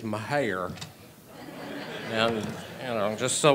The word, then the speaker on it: Mejia: Well, the accurate pronunciation, not to correct you, is Mejia.